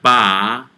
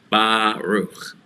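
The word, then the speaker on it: ברוך: And then the chaf sofit is CH, and the two dots inside the shva means come to a glottal stop. No extra vowel sound will be pronounced after that. So we have Baruch, Baruch, Baruch.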